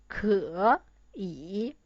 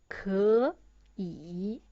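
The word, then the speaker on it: 可以: Originally, the pronunciation of this word is 可以. It's too tiring to pronounce, so we change the first 可 into second tone, so it pronounced 可以.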